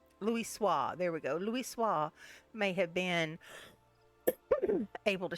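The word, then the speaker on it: Louisoix: Louis Louis swah Louis swah there we go Louis swah may have been able to shed light upon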